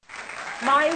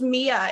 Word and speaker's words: Mya: alone you know most people think it's pronounced mia in the states for some reason there's no e i